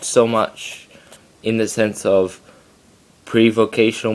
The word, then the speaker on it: mu: of negative three mu modern pronunciation is me but do not pronounce it me pronounce it mu mu this is even